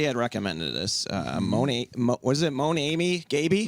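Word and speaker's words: Mon Ami Gabi: Was it Monami Gaby? Monami Gabby. A little south side pronunciation.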